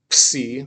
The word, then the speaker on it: psi: This is psi, not psi, psi, and I want you to pronounce it like that with a PS, psi, and that's the sound it makes, PS, as in tipsy or pot, or what's the other? Well, that's the example it has in the books. Tipsy. It's a combination of a PS sound.